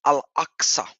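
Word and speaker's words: al-Aqsa: and then masul ax it is axa to to really pronounce it in the Arabic properly it's al axa is the second mosque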